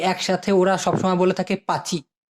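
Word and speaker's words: pakcik: সৎ চাচা, চাচাকে অথবা মামাকে একসাথে ওরা সবসময় বলে থাকে পাচি। পা চি। লাস্টারটা ক আছে, কিন্তু ওটা ছোট করে উচ্চারণ করে, এই জন্য পাচি শোনা যায়।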